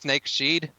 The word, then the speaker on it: Snake's Head: feather there's no time we pronounced snake she'd everybody makes that mistake but you know just